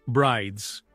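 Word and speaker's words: Bryde's: El sonido, dijeron, probablemente provenía de las ballenas de bride, pronunciado brides.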